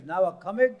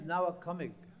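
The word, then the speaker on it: Nowa Cumig: I say my name is Nawakamig. Because it is my passport. Don't. I mean, it is obliged. I mean. No, I say my name is Nawakamig.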